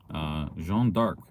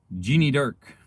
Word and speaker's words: Jeanne d'Arc: When I was in Ottawa, and there was a street, Jeanne d'Arc, the D apostrophe ARC, and Siri pronounced it as Jeannie Dark. Jeannie Dark sounds like a kid's spy cartoon. So Jeanne d'Arc became Jeannie Dark.